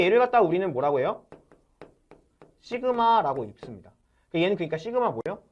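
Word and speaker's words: σ: 시그마라고 읽습니다.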